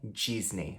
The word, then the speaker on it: Disney: palavra Disney em inglês, que não tem esse som de D no início e nem de A no final. Então a gente pronuncia Disney. Disney, e não Disney, ok? Então o D tem som de D mesmo, D, e o finalzinho é um som de I, então é Disney.